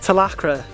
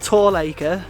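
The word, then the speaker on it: Talacre: a place for reference it is pronounced telacra not tall acre not talaka and definitely definitely not taliwaka although that one is probably the best so in a world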